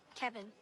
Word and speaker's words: Kevin: Kevin. Kevin. Kevin. Like Kev in.